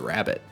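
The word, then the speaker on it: Raboot: how they pronounce that reboot sounds more natural to me but obviously it's a rabbit so it's rabbit not reboot alright moving on we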